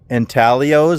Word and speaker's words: Intaglios: So where I'm at, I am at the, I don't know if I can pronounce this right, the Blythe Intaglios. I think the G is silent.